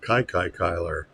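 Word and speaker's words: Kiki Cuyler: And this is, I always thought it was pronounced Kiki Kyler, but apparently John Mangini pronounces it Kai Kyler.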